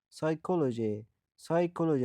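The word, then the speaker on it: psychology: سایکولوژی روانشناسی. قبل از گفتیم هرگاه قبل از حروف S و N بیاید تلفظ نمی شود. سایکولوژی. پی که قبل از اس آمده در اول کلمه تلفظ نمی شود.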